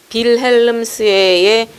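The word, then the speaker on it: Wilhelmshöhe: 근데 이게 독일 말에 회 앞에 있는 H는 발음을 해요. 근데 모음 사이에 들어있는 H는 발음을 안 해버리거든. 하면 안 돼. 해가 아니라 회니까 잘 알아듣지도 못하고 발음도 잘 하기 힘들지.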